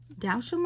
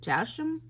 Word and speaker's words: Dalsheim: These are Dalsham, I'm thinking. Yes, I think that's how you say it, Dalsheim, D-A-L-S-H-E-I-M.